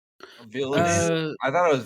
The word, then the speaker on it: Villeneuve: think, how do you pronounce his last name? Is it Villeneuve? Villeneuve.